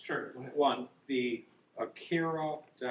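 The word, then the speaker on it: Aqara: One, the Akira, how do you pronounce it? Akara.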